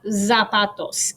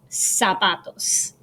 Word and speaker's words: zapatos: it's not zetta but it's pronounced like the english s sound so for example sapatos means shoes you never make the z sound in spanish so it's not zapatos it's sabatos all right and i